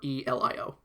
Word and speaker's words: Aurelio: No, that's Aurelio. Okay, just making sure, because you don't pronounce them double L's in Spanish.